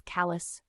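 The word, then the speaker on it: Calais: China in 20 minutes Cal which we pronounce as Callis to Peru Poland to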